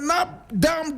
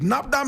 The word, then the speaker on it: Nabdam: Now, the Nap Dam district, Napam is spelled N A B D A M is one of the 15 districts in the upper east region of Ghana.